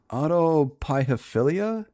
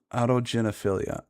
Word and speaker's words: autogynephilia: Autopiophilia? Is that how it's said? There's no foundation. Are you a... It's a whole man. It's Autogenophilia.